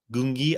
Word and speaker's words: Gungi: while before but that ultimately changed with like Gangi or G gungi gungi I just listen to how isoko pronounced it the first time he didn't want